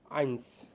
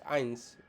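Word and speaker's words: eins: কে বলে হচ্ছে নল ওয়ান কে বলে হচ্ছে আইনস এটার উচ্চারণ হবে হচ্ছে ই আই এন এস আইনস টু কে বলে হচ্ছে জোয়াই টু কে বলে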